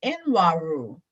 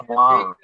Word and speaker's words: Nwaru: Nwaru. Is that right? Correct me if I'm wrong. It's pronounced Waru. Say that again. It's pronounced Waru. Just pretend Okay. that the N is silent.